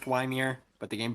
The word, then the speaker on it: Ymir: do you say it I I know it's Weimer but like yamir the game pronounces it Ymir I know it is pronounced weimier but the game pronounces it yamir you're weird you're weird Achilles two levels down